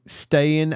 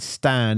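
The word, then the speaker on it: Stijn: About halfway between Stayin and Stan is the perfect pronunciation of...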